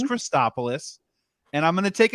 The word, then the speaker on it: Christopoulos: So just full disclosure, people screw up my last name pronunciation all the time. It's Christopoulos, and I'm going to take a swing at it and you tell me how I do.